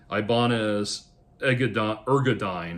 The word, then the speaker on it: Ibanez Ergodyne: And it's Ibanez Ergodyne, that's how you say it.